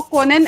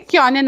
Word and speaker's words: können: Okay, सिर्फ वो कोनन ऐसा नहीं आना चाहिए, क्योनन आना चाहिए. वो ओ उमलाउट है ना, ओके मैम, तो इसलिए वो उमलाउट का प्रोनाउंसिएशन या क्योनन.